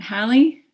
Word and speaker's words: Hallie: Is it Hallie? Am I saying it right? Yeah, it is.